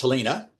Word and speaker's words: Helena: We said Helena before, but it's Helena, is a British dependent territory, which is the new politically correct term for colony.